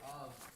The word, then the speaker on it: of: In the word of, the F is pronounced like a V.